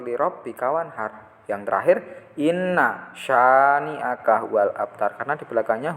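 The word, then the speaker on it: شَانِئَكَ: Cara membaca lafal syani'aka. Coba kita lihat tulisan yang benar mana. Oke. Yang benar adalah ini. B. Kenapa A salah? A bacanya pendek, ini sya itu dibaca panjang.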